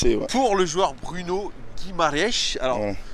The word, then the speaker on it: Guimarães: pour le joueur Bruno Guimaraes. Alors, Ouais. c'est comme ça que ça Il se s'appelle prononce. pas Guimarães, hein, c'est vraiment le nom de famille.